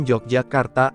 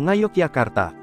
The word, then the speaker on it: Yogyakarta: Dalam penggunaannya sehari-hari, Yogyakarta lazim diucapkan Jogjakarta atau Ngayogyakarta. Berdirinya kota Yogyakarta tidak lepas dari perjanjian